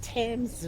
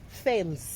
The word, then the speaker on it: Thames: that time we were the teacher was calling it fam even the time I came here first time I used to call it f then people they'll be laughing say we don't call it f it's t guys but the spelling is